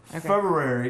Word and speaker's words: February: the same you know i have to hear it pronounced differently february because you know there's an r all right so for